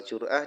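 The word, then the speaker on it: جرعة: Wal jur'ah. Dan adapun lafal jur'ah itu bidamil jim dengan dibaca domah jimnya. Jur'ah.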